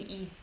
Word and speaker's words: 의: 의 is pronounced 의 when it's in the beginning of the word. When it's after, it's usually E.